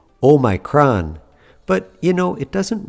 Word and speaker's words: omicron: might also hear pronounced omicron if you go back to the greek origin of the word the textbook way to pronounce it is omicron but you know it